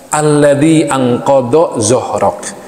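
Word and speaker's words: الذي أنقض ظهرك: Alladzi anqadha zuhrok. Ini susah bacanya nih. Alladzi anqadha zuhrok. Ada huruf dod, ada huruf zo.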